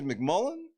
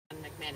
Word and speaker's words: McMahon: And you say his last name is McMullen. Vince McMullen. the disrespect. McMahon, even though it's spelled Yeah.